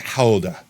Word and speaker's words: Gouda: It's like howa because it's actually like from the town or whatever, right?